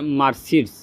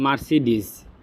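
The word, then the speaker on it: Mercedes: এখানে একটা দেখতে পাচ্ছেন যে বলতেছে যে মারসিডিস আমরা মূলত এটা জানি যে মারসিডিজ এটা সাধারণত উচ্চারণ হবে মারসিডিজ কিন্তু সে বলতেছে কি মারসিডিস আবার শুনি শব্দটা তো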